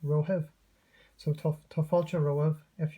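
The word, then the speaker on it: romhaibh: This is the singular of you, and this is the plural of you, pronounced rohiv.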